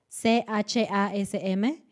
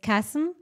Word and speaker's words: chasm: Y a mí me ha pasado a veces que creo que era la palabra CHASM, que es chasm. Yo decía chasm, porque nunca había escuchado la palabra, solo la vi chasm, escrita, ¿no?